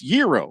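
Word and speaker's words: gyro: a man from Greece is pronounced the way I mentioned it with no hacking call them if you like it's Euro oh no we all agree it's Euro but I'll give out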